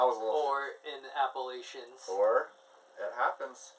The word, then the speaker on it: Appalachians: Or in Appalachians. Or, it happens. Appalachians. Appalachians. So think of it as Latchin.